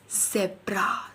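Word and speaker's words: Zebra: और इसको हम जब वर्ड में पढ़ते हैं तो कैसे पढ़ेंगे? ज़ब्रा। कैसे पढ़ेंगे? सेब्रा। सेब्रा। ठीक है? सेब्रा।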